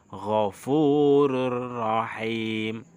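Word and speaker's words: غَفُورٌ رَحِيمٌ: Tulisannya ghafurun rahim, tetapi bacanya ghafurur rahim karena ro termasuk huruf idgham bila gunnah.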